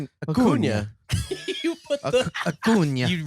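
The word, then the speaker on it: Acuña: Acuna. Acuna. You put the Acuna. You really dig in. ACUNA. Well, if you're putting an Enya in there, I'm saying the Enya.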